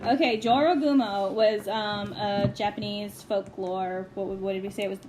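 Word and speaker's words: 女郎蜘蛛: we are back and it turns out it's pronounced Joro Gumo according to Google that's how Google pronounced it what you want but not being mean that's what it said okay Jorah boom Oh was Japanese folklore what was what did they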